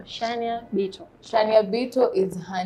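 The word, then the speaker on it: Shaniah Bito: Tuambie tu kama nimepronounce jina vizuri. Yeah. Shania Bito. Shania Bito.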